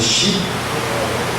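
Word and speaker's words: 四: número 4, né, que a pronúncia do número 4 em japonês é shi, que a pronúncia de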